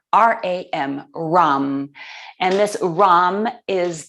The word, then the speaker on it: ram: um chant um one syllable um a single syllable ram r r a m ram and this rom is the seed syllable